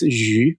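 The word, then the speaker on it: 鱼: Yeah, because fish in China, in Chinese, the pronunciation is yu, the same sound of surplus.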